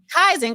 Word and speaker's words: Kaizen: thought Kaizen, that's how you pronounce Oh, hell no. No, And Michigan. Kaizen.